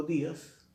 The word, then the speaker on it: días: Y cuando digo días, también estoy poniendo un énfasis en la sílaba di.